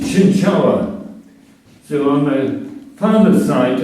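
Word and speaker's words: Cienciała: Of course, I've got a funny surname called Shinshala. And in Polish, the L has a dash through it and it's pronounced Chinchawa.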